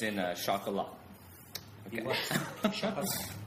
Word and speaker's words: Chocolat: Chocolate. You have to say it like that.